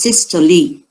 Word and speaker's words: systole: you have your systole it is pronounced sister lee and the yastuli so